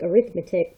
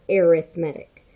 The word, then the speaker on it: arithmetic: I know it looks like arithmetic, but it's an adjective. So when we say it as an adjective, we are talking, or we pronounce it as arithmetic. So an arithmetic sequence.